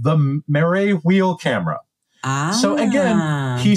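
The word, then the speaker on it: Marey: you may be able to pronounce this name better than I, because my French pronunciation is very poor. Etienne Jules Marais. It's Marais.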